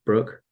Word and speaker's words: Broke: becomes captain of the brook um which is spelled broke but for some reason pronounced Brooke and unfortunately has two